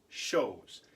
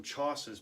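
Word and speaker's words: chausses: but this actually shows it's one of those French words that have all those extra letters that you don't say these shows are made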